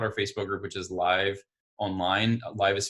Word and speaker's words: Lyve: And with virtual events, you can check out our Facebook group, which is Live Online. Live is spelled LYVE, Launch Your Virtual Event.